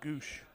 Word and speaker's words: Gwosdz: It was spelled Gwosdz. They pronounced it Goosh.